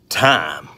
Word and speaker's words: thyme: essential oil time well apparently it's pronounced time time like you're gonna tell time see this right here